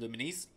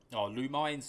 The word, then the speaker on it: Lumines: games in tetris and luminis lumines lumines however you want to pronounce it luminesce moulding them together and